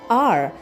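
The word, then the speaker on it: hour: The first word we have is R spelled as H O U R and we pronounce it as R O U R.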